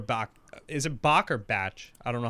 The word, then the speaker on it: Bach: Where like, in Spy Who Loved Me, when Barbara Bach, is it Bach or Batch? I don't know how to pronounce it. Bach.